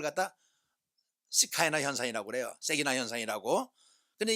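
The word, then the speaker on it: שכינה: 우리는 세기나 이렇게 그 글자를 그대로 발음해서 그런데 원래 이거 세기나로 발음하면 안 되면요 안 되고요 시카이나로 발음해야 돼요.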